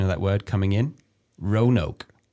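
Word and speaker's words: Roanoke: I think it's Rayanokei Island. I've got the word the pronunciation of that word coming in. Rono. Rono. Wow, that's how Americans would pronounce that word.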